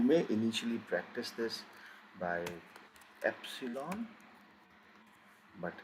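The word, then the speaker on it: Ypsilon: It is always going to give you sound of y, as in yar or ear. Same pronunciation as this yacht, always ya.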